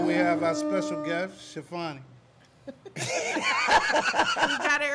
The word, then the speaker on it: Chiffani: Chiffani, Chiffany. No, I ain't say Chiffany. Somebody else said Chiffany. It's Tiffany Chiffani Salas. It kind of like rolls off your tongue.